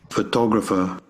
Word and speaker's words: photographer: Photographer. Here carefully. Photographer. Again. Photographer. Photographer. Photographer. Here we have the stress in the second syllable.